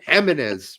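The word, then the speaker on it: Jiménez: Yes, J's in Spanish are pronounced like H's, like Jimenez, right?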